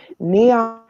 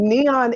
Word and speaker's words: NHAEON: national neon. It's um but it's not spelled like neon like you would think, but it's NHAEON.